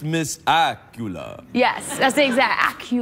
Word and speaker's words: Accola: Candice Accola sounds a bit like Dracula.